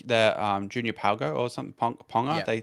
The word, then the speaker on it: Ponga: They brought the Junior Palgo or something Ponga. yeah. They say it like Ponga.